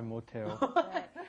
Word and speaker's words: 못해요: Now, notice that pronunciation may sound a little strange. You've got 못, which has an S at the bottom, followed by the H, 하다. Why does it come out te?